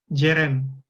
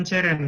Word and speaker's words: Ceren: Itu dibacanya J. Jadi kalau misalkan aku tulis gini, itu dibacanya Jeren, bukan Ceren ya.